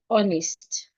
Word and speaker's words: honest: like in the word honest the H is silent hour the H is